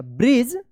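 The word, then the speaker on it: bridge: यहां पे डीजी एक साथ है तो क्या उच्चारण होगा? ज उच्चारण होगा। ब्रिज they talked for अ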